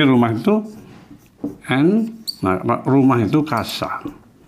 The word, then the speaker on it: casa: Di rumah itu nah, rumah itu casa. Bacanya casa ya, bukan casa, casa. Dibaca seperti K.